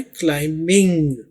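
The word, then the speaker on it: climbing: इसमें B silent है। अमूमन एम के साथ जब बी आ जाए तो बी को प्रोनाउंस नहीं करते। तो आपने बोलना है क्लाइंबिंग। पी आपने ऐसे समझना है कि यहां पर है ही नहीं।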